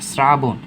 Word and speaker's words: শ্রাবণ: তালব্যস্যের সাথে যদি র যুক্ত থাকে, যেটাকে প্লাস চিহ্ন, র যদি যুক্ত থাকে, তাহলে কি হবে? দন্তস্য। এই যে শ্রাবণ, দন্তস্য হয়ে গেছে।